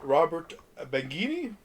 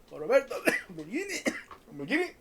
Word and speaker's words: Roberto Benigni: And we've got a little Robert Benigni. Roberto Benigni. Natasha. Nicoletta Braschi, I believe is how it's pronounced.